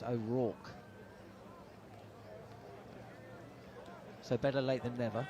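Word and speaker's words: O'Rourke: this to Mid on I've been pronouncing his his name incorrectly all T who's that oo ack I've been saying aook aook it's ack so better late than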